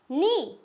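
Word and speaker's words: knee: फिर के आता है तो वो होगा हमेशा साइलेंट फॉर एग्जांपल नी क्या हम इसको किनी पढ़ेंगे नहीं छोटे बच्चे हमेशा ये गलतियां करते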